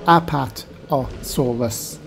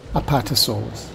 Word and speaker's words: Apatosaurus: being a big dinosaur it has an easy name just five syllables it's said like this apart or solas apatosaurus don't forget to check